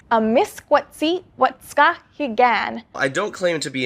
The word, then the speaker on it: amiskwaciwâskahikan: I dug into it and I found the video responsible for this terrible pronunciation. Amiskwaciwâskahikan.